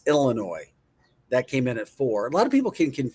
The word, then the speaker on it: Illinois: It's not Illinois. It's Illinois.